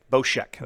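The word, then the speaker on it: Bossk: It's Boshek? Boshek. That is correct. So Boshek, it's only 2 attack with him. Yeah, that thing's a 3/5. You play Boshek in this deck because he lets you the discard.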